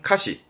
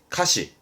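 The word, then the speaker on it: 歌詞: 그래서 가사의 발음은 카시, 카시.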